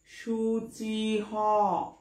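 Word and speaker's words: শুচিঃ: যাই হোক, সূচিতে সংস্কৃত শব্দের শ্লোকে বিসর্গ যদি থাকে তাহলে উচ্চারণের শেষে কিন্তু হ যোগ হয়ে যায়। তাহলে উচ্চারণটা কি হবে? সুচি হ, সুচি হ। উচ্চারণটা হয়ে গেল সুচি হ।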